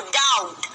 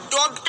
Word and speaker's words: doubt: ये लिखा है DOUBT, तो इसको आप डोप्ट नहीं पढ़ेंगे, बहुत से बच्चे डोप्ट पढ़ते हैं। यहाँ पर जो बी होता है वो क्या होता है, साइलेंट होता है। बी जो होगा यहाँ पर वो साइलेंट होगा। आप इसे क्या पढ़ेंगे, क्या बोलेंगे, डाउट।